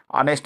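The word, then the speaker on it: honest: जैसे एन ऑनेस्ट मैन an hour ऑनेस्ट मैन में एच का उच्चारण ह होता है। पर ऑनेस्ट मैन में एच का उच्चारण ह नहीं हो रहा है।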